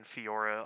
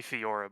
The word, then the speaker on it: Fiora: statue I don't play Fiora but I want that statue yes you just don't pronounce the e that's all repost a no wrong